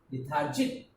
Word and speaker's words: lethargic: lethargic, L-E-T-H, T and H both combine to pronounce th, T-H-A, lethar, R, lethar, Jic, G-I-C, C at the end we pronounce it K, lethargic.